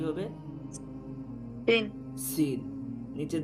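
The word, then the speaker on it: سين: তাহলে এটা কি হবে, সিন। সিন। নিচে 2 দাঁতের পেটে লাগবে, জিহ্বার আগাটা নিচে 2 দাঁতের পেটে লাগিয়ে সিন উচ্চারণ করা হয়।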